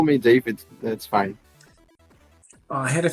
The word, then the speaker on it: Davi: It's actually Davi, but you can you can call me David. That's fine. I had a feeling it was Davi.